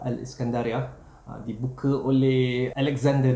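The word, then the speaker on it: الإسكندرية: was there too So, Alexandria or in their pronunciation Al - Iskendriyya It was opened by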